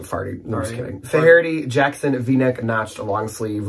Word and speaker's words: Faherty: My first on eBay was this Faherty, not Fahardy. Good job.